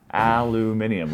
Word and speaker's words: aluminium: Aluminium. Look at the word. That's how you pronounce it.